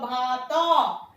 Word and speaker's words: ভাত: ভাত খাবো, ভাত, উচ্চারণটা হওয়া উচিত ছিল ভাত, তো এর সঙ্গে অ আছে, কিন্তু আমরা এই অটাকে উচ্চারণ করছি না।